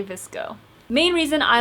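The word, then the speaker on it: VSCO: Does anyone else pronounce that app as Visco and not VCO? From the very beginning, I used to say Visco and then I realized that most people said VSO, but Visco. Visco.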